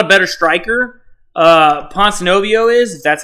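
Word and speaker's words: Ponzinibbio: uh like neil's not a better striker uh ponce novio is that's how you say it pon snow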